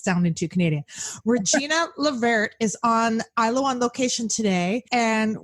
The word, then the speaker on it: LeVert: Um gang, I have the absolute pleasure of having Regina Lever on the show today. Is that how you pronounce your last name? That's the way it's pronounced correctly, but most Americans will say Levert.